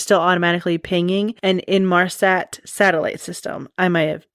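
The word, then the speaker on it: Inmarsat: So even though it stopped communicating with air traffic control, the aircraft was still automatically pinging and in Marsat satellite system. I might have pronounced that wrong, but it's I N M A R SAT.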